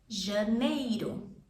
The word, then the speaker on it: janeiro: Mostly you're gonna take care of your pronunciation. So for example, January, it's janeiro.